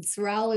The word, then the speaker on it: Sorrell: Sorrell is spelled S-O-R-R-E-L-L-E.